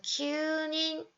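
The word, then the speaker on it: 九人: 여기서는 무조건 q 발음을 해주셔야 됩니다. 그래서 큐닌, 발음이에요.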